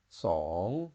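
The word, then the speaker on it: สอง: to the S and it happens to be a question tone song and that means the number two so compare the difference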